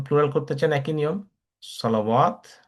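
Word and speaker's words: صلوات: সলাহ থেকে যদি আপনি প্লুরাল করতে চান একই নিয়ম, সলাওয়াত। এখানে আবার ওয়াটা উচ্চারণ হচ্ছে, এখানে আবার আত আসছে।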